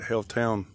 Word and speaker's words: Haletown: And as I said, this is Haletown, H-A-L-E, not Hailstorm, spelled the same way. H-A-L-E, but Haletown.